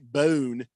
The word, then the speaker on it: Bohn: King Kenton says 3.5 years after taking over from Lynn Swan, Mike Bohn has resigned from USC as athletic director. Excuse me? Is that how you pronounce that?